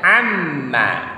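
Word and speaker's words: عَمَّ: Jadi membacanya amma, tidak boleh seperti bunyi hamzah. Dia harus pas sesuai bunyi ain.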